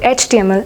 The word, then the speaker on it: HTML: Why do you think there is an before the word HTML and not a?